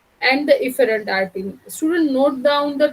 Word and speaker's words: efferent: Now both could be pronounced as efferent only, but I always remember and pronounce it as afferent and efferent, so that idea comes